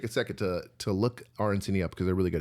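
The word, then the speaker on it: arancini: definitely take a second to to look RNC up because they're really good. It's spelled A R A N C I N I.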